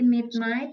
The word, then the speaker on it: midnight: River bacanya River jadi Mid Night bacanya Midnight jadi g-nya g sama h-nya itu hilang ya disebut GH silence tap enggak dibaca Midnight